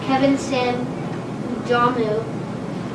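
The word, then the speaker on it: Kevin sam w domu: is also a famous movie although it is pronounced kevin sim udamu which is which in polish that means kevin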